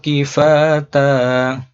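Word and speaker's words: كفاتا: Alam naj'alil arda kifata ahya'an wa amwata. Nah, ini pada akhir ayat panjangnya cukup 2. Kifata, tidak panjang-panjang sekali.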